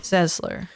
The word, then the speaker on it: Sesler: Sesler. But So- I see that's not the case. Rhonda Y. Sesler, 57.